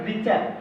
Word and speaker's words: Richter: था जिनका नाम था रिचर। यहाँ पे RICHTER लिखा हुआ है, लेकिन इसका मतलब है रिचर पढ़ेंगे, टी आपका साइलेंट रहता है।